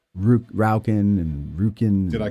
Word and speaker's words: Roukin: You pronounce it Roukin. That's how it's pronounced.